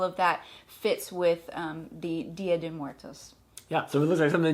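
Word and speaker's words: Día de Muertos: She didn't like my initial pronunciation. I didn't. She was like, Muertos. Muertos. Dia de Muertos.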